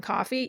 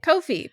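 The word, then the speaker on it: Ko-fi: coffee yes i know i just spent the last year and a half pronouncing it kofi because i thought i'll be clever i don't know how to pronounce this thing i'm going to go on youtube and see how other people pronounce it and everybody called it kofi but apparently that's not what it is it's called coffee which kind of makes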